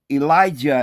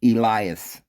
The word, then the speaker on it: Elias: Now remember, Elijah is the way we pronounce it today, but his name was never Elijah. It's Elias. There was no Yah on the end.